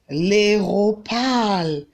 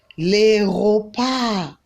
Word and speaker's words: l'aéroport: L'aéroport. Can you say that? L'aéroport. Don't go and pronounce the T, okay?